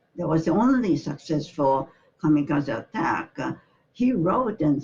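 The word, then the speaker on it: 神風: So, in 41, the kamikaze pilots are saying that there is no hope for winning. And that's the reason why kamikaze means God's wind. Shimpu is another pronunciation.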